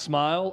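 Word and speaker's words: Smael: just wish you know it's pronounced smile I wish was I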